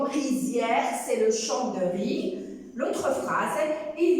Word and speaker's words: riz: Donc, l'autre phrase, je te propose un gâteau de riz. Je te propose la même chose, la terminaison de la conjugaison. Riz, il se termine par Z.